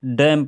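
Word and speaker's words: damn: ठीक है, कोलम पढ़ रहे हैं, ओटम पढ़ रहे हैं, इधर डैम पढ़ रहे हैं, इधर हाइम हाइम पढ़ रहे हैं, हाइम, ठीक है।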